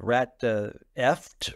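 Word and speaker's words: Ratfucked: I had written one with the title of Rat Eft Rhymes with Duct.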